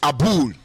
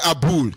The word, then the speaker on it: Abul: His name is Abul. I may not be able to pronounce it well, don't mind me. And when I say Abul, the spelling is A-B-U-L.